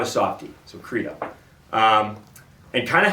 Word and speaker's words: Credo: And it's pronounced Credo, okay? C-R-E-D-O, all right? It's not Credo. There's no asterisk over the E where it's like an A.